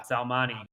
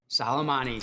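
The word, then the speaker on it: Soleimani: God what was I don't know how to pronounce his name but uh salmani salamani thank you um yes yeah but I I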